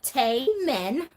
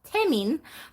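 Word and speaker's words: Tenoch: I don't know why I read the name so American I was like Tay men no better actually that name is pronounced tamin but um I I'd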